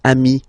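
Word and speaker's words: amis: So singular form amii plural form you add this s but it's amii as well.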